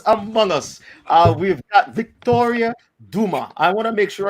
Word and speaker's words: Dumas: We've got Victoria Dumas. I want to make sure I got it Dumas, right? Yes, Dumas. Oh man, without the S, even though it's spelled with an S, because I got the pronunciation right.